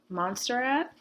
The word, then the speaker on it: Montserrat: I like Montserrat, that's how you say it, because what I did,